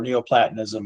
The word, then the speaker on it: Neoplatonism: Yeah, Neoplatonic or Neoplatonism.